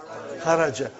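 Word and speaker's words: خرج: Say it properly. Kharaj. With sukun. You won't say with? You will say kharaj.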